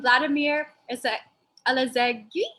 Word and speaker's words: Vladimir Alazegi: Let us welcome Vladimir Alazegi. Did I say it right? Yeah, you said it right.